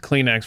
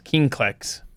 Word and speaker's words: Kleenex: I think my oldest mispronounced Kleenex for the longest time. It was King-Klex.